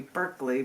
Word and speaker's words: Berkeley: That that's B E R K L E Y like you're barking up the wrong tree, Berkeley.